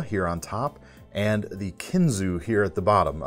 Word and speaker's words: Kinzua: We've got the Marilla here on top and the Kinzu here at the bottom. Even though the A is on there, I've been hearing them pronounce it just Kinzu.